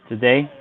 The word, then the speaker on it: today: Today, Okay. And where would you set today? the second column. Good. Do you know which is, you're saying that the strongest syllable is day, right?